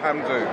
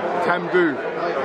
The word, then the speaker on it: Tamdhu: Yeah, it's actually pronounced Tamdhu. Tamdhu.